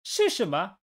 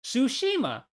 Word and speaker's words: Tsushima: is not silent though I can say it like one says tsunami in English but I know it's